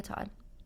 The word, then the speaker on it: Todd: this is the Todd Pod. It's probably not a good idea to start a podcast because your last name rhymes with pod, but I'm here anyways.